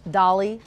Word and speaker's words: Dali: It is pronounced Dali.